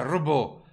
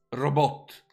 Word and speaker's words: robot: Doveva essere un robot con l'accento sulla prima O e la T pronunciata.